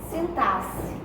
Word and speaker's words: sintaxe: Sintaxe. Algumas pessoas leem até sintaxe, mas não é sintaxe. O X tem som de C, tá?